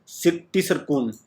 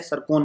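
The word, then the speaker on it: Циркон: तो किस कंट्री ने इस हाइपरसोनिक मिसाइल को, नाम क्या है इसका, टिसरकुन या जिरकोन, टी इसमें साइलेंट है, सरकोन इसको कहूँगा मैं।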